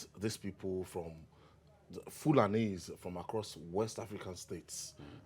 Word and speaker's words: Fulani: When they say Hilani, they are local people, so they pronounce, instead of saying Fulani, they say Hilani. That's the way they pronounced the word Fulani.